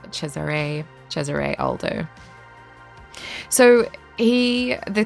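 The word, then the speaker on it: Cesare: mind um I never looked up how to pronounce uh chesiree which is how you pronounce his first name I think I was in my mind and probably in my reviews was saying like Cesar um it's c s a r e and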